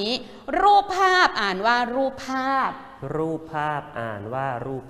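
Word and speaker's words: รูปภาพ: ไป ค่ะ คำ นี้ รูป ภาพ อ่าน ว่า รูป ภาพ รูป ภาพ อ่าน ว่า รูป ภาพ ทำ นี้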